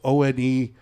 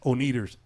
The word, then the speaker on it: The Oneders: The name of the band was The Wanderers, but they spell it Oneders. So when you look at it, it looks like Oneaters.